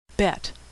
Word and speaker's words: bet: Bet, which is pronounced B as in boy, or V as in victory.